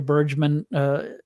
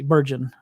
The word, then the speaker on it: Bergen: But that was kind of my takeaway, is that Junior Bergman is not going to make the roster, but we'll see. Bergen, I said it wrong.